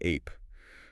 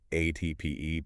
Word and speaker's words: Ape: We are talking, of course, about the Ape. And for anyone who doesn't know, that's spelled Ape. But please don't call it the ape. No, no, it's ape. It's the Italian word for bee.